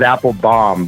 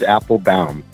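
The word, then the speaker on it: Appelbaum: Everybody says Applebaum, but it is Applebaum.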